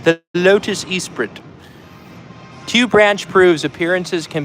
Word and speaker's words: Esprit: that the Lotus Esprit I'm going to say it like a British ver person the Lotus Esprit tube Branch proves appearances